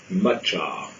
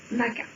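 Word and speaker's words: Macha: Matcha. Non, le CH se prononce Maka.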